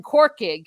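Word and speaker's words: Corcaigh: word dublin and then quarkig is how you say cork in irish which is basically cork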